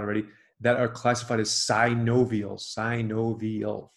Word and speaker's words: synovial: And then there are six joints, these are the ones that most people know about already, that are classified as synovial, four syllables.